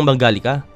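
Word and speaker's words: Mangalica: Ang Hungarian Mangalista na binibigkas bilang Mangalika ay isa sa mga pinakamalalaking lahi ng baboy sa mundo.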